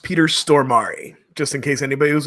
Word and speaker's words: Peter Stormare: There's at least Nice one important fact, and that is that it's pronounced Peter Stormare, just in case anybody was wondering.